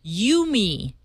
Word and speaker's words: UMI: Another big announcement here in the Silicon Valley area: Cisco unveiled their UMI product. UMI is how it's spelled. No me. No, you. No, me. Me. No, you, me.